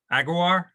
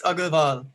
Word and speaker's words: Agarwal: So I'll do the introductions and then introduce Rahul Agarwar. It's Agarwal. You have to pronounce the L also.